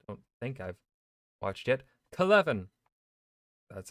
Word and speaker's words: Kelevin: Clevin. That's how you pronounce it.